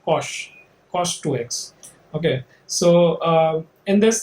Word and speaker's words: cosh: Okay, we call it cosh. Our prof in IITK used to say that it's the cos hyperbolic, used to pronounce it as cosh 2x.